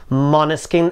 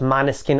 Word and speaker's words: Måneskin: together tarna akaza by money skin yes i have been told the right pronunciation is something like monoskin and not many skin or mana skin now if you're new